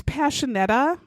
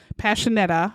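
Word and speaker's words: Pasinetti: But it's not spelled that way. It's spelled P-A-S-I-N-E-T-T-I. There's implying that you're going to do the sh sound. There's nothing that would make the sh sound there. There's not even any kind of a symbol.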